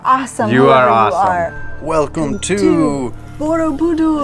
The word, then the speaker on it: Borobudur: Welcome to Borobudur. Borobudur.